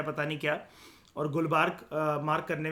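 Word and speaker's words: Gulbarga: मतलब टू be precise गुलबर्ग जो है वो वैसे आंध्र प्रदेश के अंदर है। ठीक है, क्रॉस चेक कर लेते हैं, कोई बात नहीं। वो ए साइलेंट होता है।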